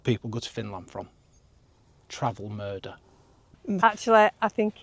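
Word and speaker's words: Travemünde: Travelmurder. That's how you pronounce it according to Google.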